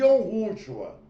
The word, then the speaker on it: יהושוע: Eu chamo de Yahushua.